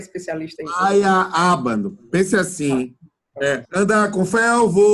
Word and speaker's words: Feyerabend: Feyerabend. Pense assim. Andar com fé eu vou, café não costuma falhar. Pronto, em vez de falhar, é falha. Feyerabend.